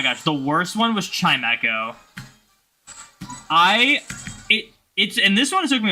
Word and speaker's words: Chimecho: I used to call Chimecho Chimicho. And then someone said Chimecho, and I was like, oh my gosh. That is 100% what it's called.